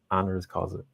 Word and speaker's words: honoris causa: Honoris Causa.